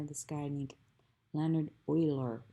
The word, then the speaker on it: Euler: the in honor of this guy named leonard oiler it's pronounced euler even though it looks like it